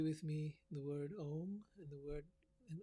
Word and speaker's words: om: and the word an om is said as a ma so you say it like this take a deep breath ah the sound the last sound is said with the mouth closed so it's so let's